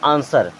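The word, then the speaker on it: answer: है जैसे यहां देखें इस के बाद में डब्लू है इसे हम क्या पढ़ते हैं आंसर क्या पढ़ते हैं आंसर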